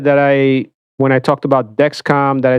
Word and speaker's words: Dexcom: Second thing, people said that when I talked about Dexcom, that I said Dexicom, which I listened back on the video and I did. It's a mistake. Okay, so it's Dexcom. I understand it's not Dexicom.